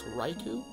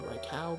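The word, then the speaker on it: Raikou: ignore the fact that i'm gonna pronounce this raiku um i think it's actually raikau but i always just pronounced it right who was a kid so this riku hollows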